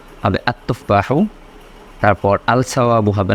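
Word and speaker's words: التفاح: আগে তখন হলো আল কিতাবু, কিন্তু যখন বললাম আত্তুফাহ তখন এটা আলিফ লামের উচ্চারণটা হয়নি, হয়েছে আত্তুফাহ। হওয়ার কথা ছিল আল তুফাহ।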